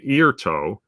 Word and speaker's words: Airto: Rob, who mentions that he saw, and he pronounces it Airto.